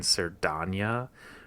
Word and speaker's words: Cerdanya: I've been trying to really hit that A in Cerdanya really hard, because that turns out to be the key here.